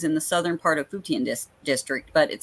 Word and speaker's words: Futian: Futian. Okay, so it just as it looks. Residents remain confined to their homes in the southern part of Futian district, but it says,